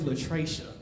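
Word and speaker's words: L'3cha: How you think that name's pronounced? Lathrisha. We got Lathrisha. The only black person, he's like, I probably got a niece named Lathrisha. They gave up. Okay. That child's name is Latracia. I know. Latracia.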